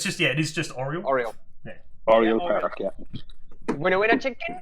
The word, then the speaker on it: Oriole Park: Wasn't bad pronunciation. Oriole. Oriole. Oriole. It's just, it is just Oriole. Oriole.